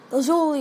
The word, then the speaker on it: lazuli: as lapis lley or lazuli lazuli is how we pronounce the gem but lley in the show I'm getting off topic